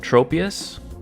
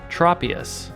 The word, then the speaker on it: Tropius: I've always called this Pokémon Tropius, but apparently it's Tropius. So, it's just a slight vowel change.